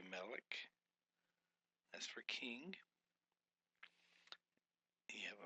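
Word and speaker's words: מֶלֶךְ: Can you say Melech?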